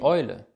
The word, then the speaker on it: Eule: Der zweite wichtige Diphthong ist E und U zusammen. Das wird im Deutschen als Eu ausgesprochen. Die Eule, Europa, das Euter. Das hier ist das Euter. Die Eule, Europa, das Euter. E und U zusammen, Eu.